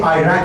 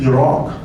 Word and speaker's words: Iraq: If they say Iraq and Iran, just turn off the TV and run as fast as. Even politicians, they cannot pronounce these two countries correctly. It is Iran and Iraq, not Iran and Iraq.